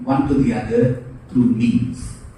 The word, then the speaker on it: memes: to the other through memes. It's spelled as M-E-M-E and it rhymes like gene, but this is how ideas are copied from one to the other.